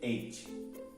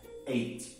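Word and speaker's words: eight: Para ficar fácil a pronúncia do 8, você vai ignorar o GH aqui e você vai ler 8. Olha que fácil. 8.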